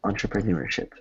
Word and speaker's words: entrepreneurship: Entrepreneurship.